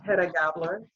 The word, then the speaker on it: Hedda Gabler: In her theater, It's Hedda Gabler.